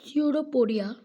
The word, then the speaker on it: pseudopodia: like projection called pseudopodia p is silent it is pseudopodia or false feed for